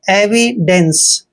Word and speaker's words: evidence: Next है EVIDENCE, EVI का उच्चारण एवी करते हैं, एवी। और DENCE को डेंस पढ़ना है, एविडेंस।